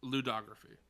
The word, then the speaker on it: ludography: And I looked it up, and it's ludography. That is how you pronounce it. Ludography.